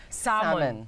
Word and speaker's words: salmon: Sas ang tawag ay silent L kaya salmon.